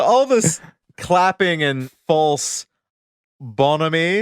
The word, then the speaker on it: bonhomie: So all this clapping and false bonhomie, is that how you pronounce that? Yeah, bonhomie. Yes.